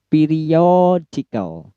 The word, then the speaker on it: periodical: Kemudian periodical. Periodical. Periodical. O-nya yang di stress.